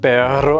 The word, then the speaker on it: perro: Perro avec deux R qui signifie chien, perro avec un seul R qui signifie mais.